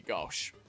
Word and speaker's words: gauche: Didn't mean to be gauche. That's how that's pronounced.